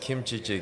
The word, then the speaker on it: kimchi: a sudden it's like the pitch goes higher yeah the the it gets sharper and it becomes one word dude it's just kimchi yeah and it's not